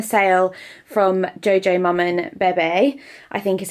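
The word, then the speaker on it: Bébé: from Jojo Mum and Bebe, I think is how you say it. Someone made fun of me for saying Bebe, and I was like, but it's French, it's got an accent on it.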